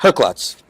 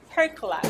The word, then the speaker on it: Herklots: Ferio Tego Herklots. What's up? Or Herklots. How do you say that? Herklots. Herklots.